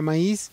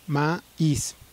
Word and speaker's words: maíz: ejemplo la palabra maíz la palabra maíz es una palabra que se compone de dos sílabas ma is en este caso estela